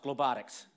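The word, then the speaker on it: Globotics: title because most people it's pronounced globe addicts can we try that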